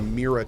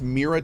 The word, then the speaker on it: Mira: How do you pronounce Mira 2? I pronounce M-I-R-A Mira. That may not be the right way to do it. But yeah, I pronounce the M-I-R-A chair as Mira.